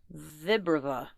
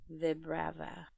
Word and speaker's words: Vibrava: have to be Rava, Vibrava. I think that's how phonetically it would be. But you're saying it Vibrava? Vibrava, Vibrava, because vibrations and like larva. Yeah, it's basically vibrations and larva.